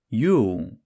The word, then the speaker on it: Jul: by its non-Christian name, Yule. That's J-U-L, but being a Nordic J, it's pronounced as a Y.